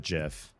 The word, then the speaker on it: GIF: And if you listen to the person who who created the GIF standard or their team did, they pronounce it GIF.